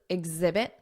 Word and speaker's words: exhibit: are demonstrate exhibit exhibit notice that Z exhibit exemplify Z ex exemplify and show and remember